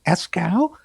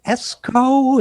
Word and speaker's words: Eskow: own brother so first of all escow thank you for coming on the zero hour thank you for getting my name right good pronunciation yeah esko is that the escrow okay um an audience